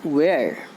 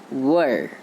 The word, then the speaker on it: were: Here, the meaning of this word, the pronunciation of this word is not where. Its correct pronunciation is were.